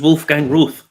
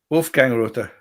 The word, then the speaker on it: Wolfgang Rother: german guy who's the whiskey figure this is wolfgang ruth i hope we pronounce that right you speak german well you just attempt to speak about german how do you pronounce that justin r-o-t-h-e wolfgang rother rother right okay now he's from munich in